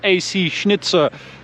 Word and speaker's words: AC Schnitzer: well we've got an AC Schnitzer wow that was very German pronunciation very nice AC Schnitzer uh front splitter little